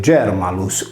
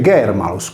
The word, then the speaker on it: Germalus: Intanto tale lessema è scritto Germanus, ma si legge Germalus con un suono velare non palatale.